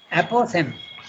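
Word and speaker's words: apophthegm: okay okay that's interesting APO the pH is not pronounced and the g is also not pronounced okay and that's English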